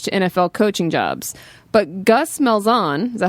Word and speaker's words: Gus Malzahn: But Gus Malzahn, is that how you say his name? Yeah, the I think UCF that's right. coach? Yeah, Gus Malzahn.